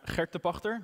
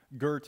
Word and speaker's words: Gert de Pagter: talk so uh let's jump into it i'm hector pachter that's the correct pronunciation gert is also fine online i'm known as